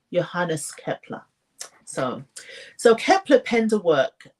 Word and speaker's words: Johannes Kepler: Johannes, his name is pronounced Johannes Kepler.